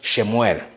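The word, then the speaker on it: שמואל: that she received and somewhere in Hebrew is pronounced shemuel now shemuel means Heart Of God of course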